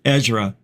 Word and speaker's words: Ezra: AZ says too EZ sorry I said your name wrong it's it Ezra Ezra EZ I because of